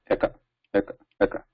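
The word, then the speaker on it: एक: So in that, we don't want to pronounce it as shortened A. Eka. So we want to pronounce it as a elongated or a dvimatra, two matras, Eka.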